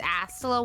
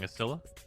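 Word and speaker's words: Astilla: through on the astola it's astola why did you let me say it wrong so long but you're saying acila yeah i mean they're both theoretically right they never say it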